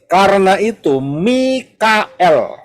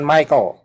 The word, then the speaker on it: Mikael: dianaers dengan raj- pers Mikael bacanya Mikael bukan Michael salah Michael Mikael ya Mikael l-nya itu